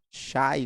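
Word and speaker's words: شيء: coisa lá em árabe a palavra coisa era pronunciada como chay não sei né se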